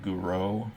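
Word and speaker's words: Gouraud: shading the default is called Guru shading is how that's pronounced it means it's emulating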